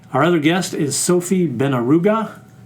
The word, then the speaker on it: Benharougo: Our other guest is Sophie Beneruga. How did I do? Great. Great. All right. Thank you very much. You pronounce it just to make sure we're we're right. Benaruga.